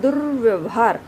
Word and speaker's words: दुर्व्यवहार: आप इसका उच्चारण जब कर रहे हैं तो र की ध्वनि कहाँ आ रही है? द के बिल्कुल बाद में र की ध्वनि आ रही है। दुर्व्यवहार।